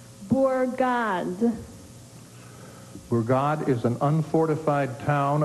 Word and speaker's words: bourgade: Are there any alternate pronunciations? No, just the one.